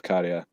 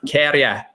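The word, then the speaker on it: Käärijä: I now know that that's also the way that you pronounce baby is also kind of how you say the A's in Karia's name. It's the same thing. So it's like Karia, sort of something like that, rather than like Karia.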